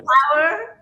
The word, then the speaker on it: Pauer: So phonetically, it's an interpretation how the word power, Pauer. Power, will be written in Spanish. So I go by Pauer.